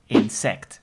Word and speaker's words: insect: same word which is insect so only the emphasis is on the second part of the word instead of in the first part in English so it's insect so an obvious one